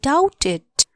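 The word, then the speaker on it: doubt: शंका छ भन आई डाउटेड डी ओ यू बी टी डाउट बी को उच्चारण हद साइलेंट हु्छ यो लेटर डी ओ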